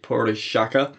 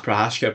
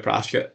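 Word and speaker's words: Procházka: go light heavyweight Main Event gler versus y poraka PKA prashka prashka excellent pronunciation once again uh this should be a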